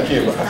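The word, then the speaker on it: açaí: The ACAI berries, the IKEA berries. Yeah, IKEA. Someone saying it right.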